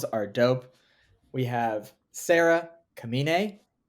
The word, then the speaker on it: Kamine: television series sales are dope we have Sarah kamine not Carmine and starring as Mickey and we have Dylan